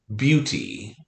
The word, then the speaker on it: beauty: The E-A multiple letter phonogram is silent. That is not something that usually happens for us, right? Beauty. So E-A, but it's silent.